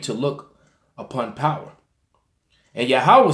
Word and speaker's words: Yahweh: And Yahweh said, I have surely seen the affliction. Notice it called him, when his name is spoken, when his name is spoken by someone else, it's pronounced Yahweh.